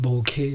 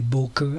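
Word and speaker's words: bokeh: differently i look up a dictionary and they pronounce it bouquet and i that's just happened to be the way i pronounce it too if you can say boker i'm not gonna complain whatever um so the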